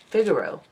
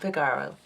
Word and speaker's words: Figaro: figero steel jewelry chain Figaro not Pagar oh I put the wrong emphasis on the wrong syllable there we go that's